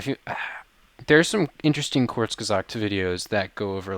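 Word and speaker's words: Kurzgesagt: i did well wow it's almost like i took german i've never heard it pronounced correctly can you say that one more time it's quartz gazak corks corkscres every time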